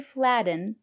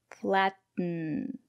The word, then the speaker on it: flatten: stop the air don't release the air stop the air kit so it's a stop T and then it falls into kitten kitten mittens written flatten C Buton so we don't say flatten we say flatten she's making bread she